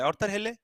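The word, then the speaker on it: Arthur Hailey: अगर आपको ऑर्डर लेकर हिले भी अगर आप बोल रहे हो ऑर्डर लेके हिले, तो दैट इज द ऑर्थर हिले। इसका सही प्रोनाउंसिएशन ऑर्थर हिले।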